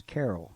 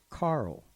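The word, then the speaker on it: Carroll: You know, almost everyone pronounced Speedo's last name as Carol, including myself. But he pronounced it as Carl.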